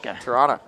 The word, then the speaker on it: Toronto: have problem with Thole there's no T pronounced in Toronto Toronto Toronto Toronto you see